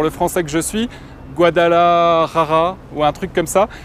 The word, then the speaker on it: Guadalajara: La petite astuce, c'est que le premier J, tu peux le prononcer comme un R. Ouais. Et le second, le R, tu peux le prononcer comme un L. Ça fait Guadalajara.